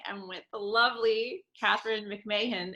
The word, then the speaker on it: McMahon: with the lovely catherine mcmahon am i saying your last name right hey mcmahon mcmahon okay you see i knew it and don't worry about it everybody pronounces it differently well i'm so happy